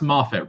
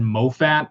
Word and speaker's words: Moffat: It's pronounced Moffat, right? I think originally when I tried pronouncing it, I said Moffat, and then a lot of you guys were like, no, it's Moffat.